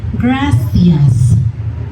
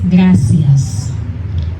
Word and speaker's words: gracias: E or I are pronounced like English TH in think. For example, gracias. In Spain it is gracias. Gracias. In most of Latin America is gracias.